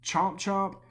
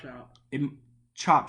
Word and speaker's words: Chop Chop: They also released more information on Conan Chomp Chomp, which is the game that... Is it Chomp Chomp or Chop Chop? Chop Chop.